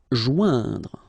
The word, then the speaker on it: joindre: Joindre. Okay, remember O-I-N together. Ouin, okay. Joindre, joindre. Vaincre.